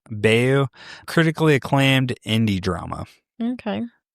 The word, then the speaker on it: Bayou: Bayou. Bayou.